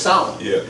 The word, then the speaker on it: Samhain: It's spelled Samhain, but it's pronounced Samhain.